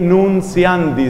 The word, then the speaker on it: Nuntiandi: Esa otra reflexión se llamaba Evangelii, así con doble I, Nunciandi, que se escribe con T. Evangelii Nunciandi, se escribiría como Nuntiandi, lo leeríamos en castellano, sin atender a su origen en latín.